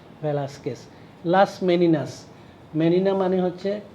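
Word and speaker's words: Velázquez: এবং ক্যানভাসের উল্টাপিঠ দেখেছে, এই হচ্ছে ভেলাস্কেস আর্টিস্ট, স্প্যানিশ, হ্যাঁ উচ্চারণ ভেলাস্কেস, VELAZQUEZ, জেড হচ্ছে এস উচ্চারণ করে স্প্যানিশ, ভেলাস্কেস।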